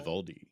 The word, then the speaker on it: Vivaldi: And on CD is Vivaldi. Is that how you say it? Vivaldi, yes.